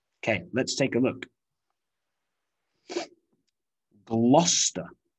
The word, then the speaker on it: Gloucester: let's take a look gloucester gloucester so if you see a town name with c e s t e r you might think it's chester or cester but no we reduce it to